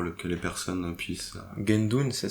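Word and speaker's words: Guendune: Est-ce que vous pouvez juste bien dire son nom pour le que les personnes puissent Gendon, ça s'écrit G U E N D U N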